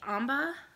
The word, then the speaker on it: Amba: My next whip, this is my Adventurous Wrap by Amba O'Brien. I hope I'm pronouncing her name right. It's like Amber, but with an H instead of a, with an AH instead of a ER.